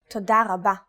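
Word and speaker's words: תודה רבה: Altogether, it's Toda rabba.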